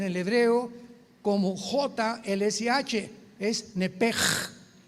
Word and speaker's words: nepesh: Nepesh se pronuncia en el hebreo como J-L-S-H, es nepej, nepej. Por eso el Espíritu Santo se pronuncia Ruach, se escribe Ruach, CH, Ruach el Kadosh. Entonces la SH se pronuncia como J en el hebreo.